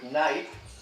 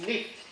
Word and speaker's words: night: might have the word night, silent GH, which comes from German, Nacht, and in fact in Chaucer's time it would be pronounced Knicht, or the knight in shining armor would be a Knicht.